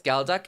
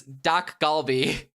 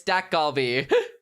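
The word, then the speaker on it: 닭갈비: What is galac? It's a Korean dish. I don't think I'm saying it right. Galac. I I am saying it wrong. It's Doc Galby. My bad. It's Dak Galby.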